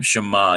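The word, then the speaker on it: שמע: obey she MA okay so we start out with a looks like a bowl shape and we have a superlinear dot on the right hand time giving it the sound Sh and then we have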